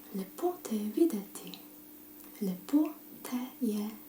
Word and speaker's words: lepo: You would say it like, lepo te videti. Lepo te je videti. Lepo.